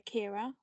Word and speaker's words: Ciara: by another special guest I am joined by Kira from Django Jane's and the Mystery Men hello hey I'm very impressed you pronounce my name right your um your